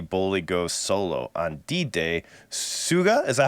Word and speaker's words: Suga: Suga, is that how you say it? From BTS goes solo on August. Suga. It's like Suga. it's like when System of a Down pronounces sugar.